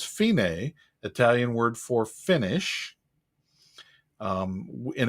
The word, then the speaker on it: fine: hear and it says fine italian word for finish in english it says fine i guess if you finish you're fine but in italian it's fine and at the beginning